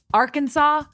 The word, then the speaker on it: Arkansas: final s being silent the a in each syllable with the Italian sound and the accent on the first and last syllables I'm not exactly sure what that means but I'm pretty sure you pronounce it Arkansas and you could get fined if you do it wrong Arkansas what if they